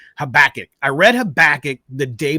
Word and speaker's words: Habakkuk: you say it solid yeah sweet all right habakkuk I read habakkuk the day before and it's